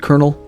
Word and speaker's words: colonel: you guys ever wonder why the word colonal is pronounced Colonel I know I do